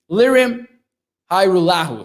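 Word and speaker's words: Lirim Hajrullahu: which everything went wrong pronounced hyrule says stevie mac thank you for the pr for the correction lyrium hi lahu so we'll get to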